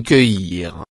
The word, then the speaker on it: cueillir: Prononciation cueillir.